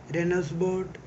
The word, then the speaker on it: Reinheitsgebot: The word Reinheitsgebot is pronounced approximately Rainer Heights Gun Bot.